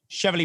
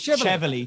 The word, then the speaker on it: Cheveley: Obviously, leading owners, Cheveley Park stud, 3 first, 2 seconds. Cheveley? Who was Cheveley?